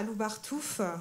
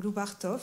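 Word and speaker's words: Lubartów: projet il démarre à loubardou ou loubardov selon qu'on prononce à la française ou à la Polonaise c'est une petite ville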